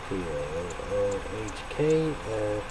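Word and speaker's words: toque: T-O-Q-U-E, pronounced T-O-O-H-K.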